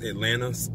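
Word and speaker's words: Atlanna: His mother, played by Nicole Kidman, her name was Atlanta, pronounced like the city, but not spelled like it, was from the sea.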